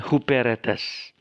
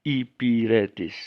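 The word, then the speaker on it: ὑπηρέτης: di akhir hieratis ya ada yang membaca ini karena kurang paham membaca huperetes tetapi yang sebenarnya membacanya ipir etis karena haid sudah tidak diucapkan lagi tetapi itu hanya untuk menandakan ada koma diatas epsilon koma diatas excellent jadi ipir etis Syekh membaca Bukan huberts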